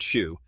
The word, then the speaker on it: SHU: The SHU, security housing unit, a world of total isolation known as the SHU, pronounced SHU.